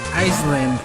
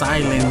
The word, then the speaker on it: island: did they stand for um and i said iceland and then the teacher like everybody in the